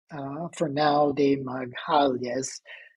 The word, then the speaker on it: Fernão de Magalhães: And we see Magellan, Fernão de Magalhães, I think is how you pronounce it in Portuguese, behind da Gama.